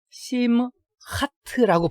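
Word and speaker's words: שמחת: 심하에 심하트라고 발음을 해요. 심하트라고 발음을 하면은 우리말대로 하면은 의 기쁨이라는 의미가 돼요. 그래서 심하트 토라 하면은 토라의 기쁨 이런 의미 되죠. 그래서 약간의 발음상의 변화가 있게 됩니다.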